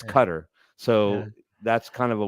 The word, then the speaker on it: Qatar: everyone loves to say Qatar but it's not pronounced Qatar it's it's I'm serious it's a very serious moment John it's not Qatar it's Qatar yeah it's cutter so that's kind of a weird one but